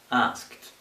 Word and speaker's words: asked: Okay, so this is going to be pronounced as t. Asked, asked, asked. T. Okay, not d.